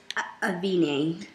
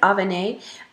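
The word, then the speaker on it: Avène: That is Avene. I think it's pronounced Avene.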